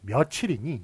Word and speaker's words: 며칠: 그렇지만 우리가 몇 년, 몇 월, 몇 일이니 이렇게 발음하지 않고 몇 년, 몇 월, 며칠이니 이렇게 발음을 해요. 그렇기 때문에 요거는 며칠이 맞습니다.